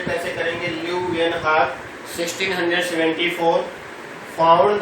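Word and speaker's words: Leeuwenhoek: Okay, तो दूसरा आप देखिए ल्यूवेनहॉक, प्रोनाउंस ये कैसे करेंगे, ल्यूवेनहॉक 1674 found the presence of living cell in the pond water.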